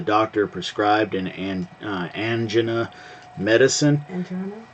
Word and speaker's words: angina: Angina? Well, I pronounce it angina, but I guess that's too close to other things for some people, and so every doctor and nurse I talked to pronounced it angina.